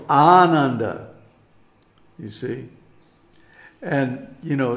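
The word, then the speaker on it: Ānanda: any other way so when I hear for example a Western speaker pronounce the word Ananda no it's Ananda you see and you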